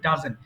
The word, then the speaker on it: doesn't: তোমরা খাও না, হি ডাজেন্ট ইট এটা ভুল করে অনেকে ডাজন বলে, উচ্চারণ হবে ডাজেন্ট।